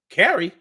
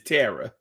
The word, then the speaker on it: Tara: like what carrie oh people be getting my name wrong all the time my name is tara you're so carrie like and i mean carrie and tara only sound the same when you try to say it fast that ain't the